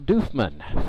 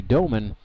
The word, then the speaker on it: Doofman: It's spelled like it should be Doman, but it's actually pronounced Doofman.